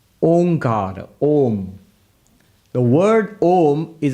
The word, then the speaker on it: Om: that's not correct Because by the rules of Sanskrit grammar when you bring a and u together it becomes O So om is the correct pronunciation pronounced together becomes om now what the upanishad